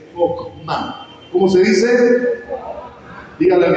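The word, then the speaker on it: חכמה: En hebreo la palabra sabiduría se dice chokmah. ¿Cómo se dice? Dígale al que tiene al lado, chokmah.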